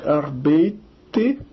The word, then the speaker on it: arbeit: Ich arbeite, du arbeitest, er, sie, es, man, arbeitet, arbeitet. Né? Se pronuncia arbeit, o ei dá ai, né? Arbeit.